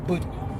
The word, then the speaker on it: bougie: Somebody called me their bougie auntie, and first of all, the word is pronounced bougie. That's the word.